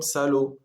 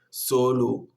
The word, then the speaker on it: сало: Сало. С о как а. Почему? Почему это нет ударений? Вот мы читаем сало. Сало. И вот в конце слова мы находим тоже еще о, который это ударение. И вот мы читаем сало, нет соло.